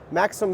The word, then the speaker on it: Maxxim: heck they're doing here with this uh new Maxim Swarm.